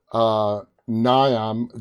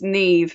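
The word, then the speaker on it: Niamh: on her shoulders, and Niam. Did I pronounce her name correct? It's Neve. It's an Irish name, so it's yeah.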